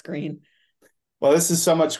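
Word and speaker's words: Gruene: And that's the town called Green, but you're not supposed to pronounce it the way it's spelled, right? Oh, it's not Grün. Yeah. Grün. Well, I mean, I guess the old Germans would say Grün, yes, but I think colloquially now it's Green.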